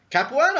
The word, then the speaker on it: Capuano: Like Capuano? I can't pronounce his goddamn name. The guy in You got it right. Capuano?